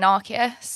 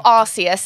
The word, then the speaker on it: Arceus: But, I mean, obviously it started with us playing Arceus. Yeah. Or Arceus, as some of you Americans say. No, what is that about? No, like, it's Arceus. Arceus. It's just we're wrong. We're not talking about our asses. Right? No, exactly. It's Arceus.